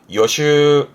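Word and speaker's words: 予習: 발음은 요슈, 요슈.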